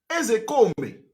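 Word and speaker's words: Ozekhome: Ezekome is the real pronunciation in Igbo language.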